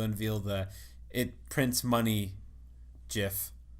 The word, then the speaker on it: GIF: Except no GIF has ever said GIF because there's no volume in a GIF.